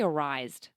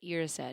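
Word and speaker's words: Erised: I used to say arised. Mirror of arised. That's what I read when I first read it. But irraised is how it's pronounced.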